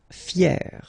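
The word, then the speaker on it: fière: Fier, fier. So you write them differently, but then phonetically it's exactly the same.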